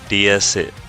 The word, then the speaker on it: DS: And other reason why Citron chose this DS name from their for their luxury brand is because the DS is pronounced like the French word DS DS which means goddess.